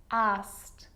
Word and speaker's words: asked: But a lot of the time, that E isn't pronounced. Looked, asked, played, baked, wrapped.